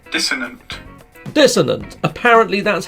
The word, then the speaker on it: dissonant: so here you go this is how it's pronounced dissonant dissonant apparently that's how it's pronounced look this dissonant a freaking Google mate so I've been saying dissident but that says a dissonant dissonant okay cool